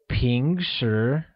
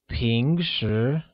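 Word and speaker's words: 平时: the word usually is translated as ping sure which carries a mid rising tone on both the eyes making it ping sure good job note that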